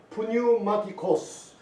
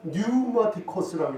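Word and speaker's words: πνευματικός: 푸뉴마티코스. 푸뉴마티코스. 그래서 영어 발음은 푸자를 안 해요. 푸수케라는 영혼, 영과 혼을 푸수케라고 읽지 않고 수케라고 읽어요. 그래서 이걸 영어로 읽으면 푸뉴마티코스가 아니라 뉴마티코스라고 읽어요.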